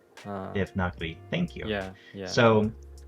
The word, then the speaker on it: Devanagari: using Devanagari always. Am I saying that right? I feel like I keep saying it the wrong way. It's like the correct pronunciation is Devanagari. Devanagari.